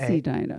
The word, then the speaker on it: Edina: because I don't know is it pronounced a Dina or Edina Edina it is Edina yes they're uh the